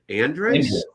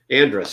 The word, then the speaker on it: Andrus: last name i have no idea how to pronounce kyle andreas that's it andrus okay so i was close i just know